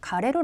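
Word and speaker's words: 枯れる: 2 번 은 ' 식물 이 시든다 ' 라는 뜻 인데 , 훈독은 어떻게 읽을까 요 ? 좋아 요 . ' 카레루 ' 라고 읽습니다 .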